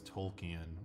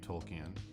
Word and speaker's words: Tolkien: the black character Token, his name isn't Token because that would be racist, his name is Tolkien, and nobody's pronouncing the L.